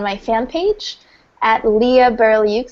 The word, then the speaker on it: Berlioux: I think Bonnie said it all, but you can reach out to me on my fan page at Liah Berlioux. It's my name, and I'll spell it out for you because it's French and difficult to spell out.